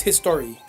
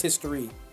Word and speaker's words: Historia: in attacking titan historia she's history i believe it's just pronounced history no i'm saying that he's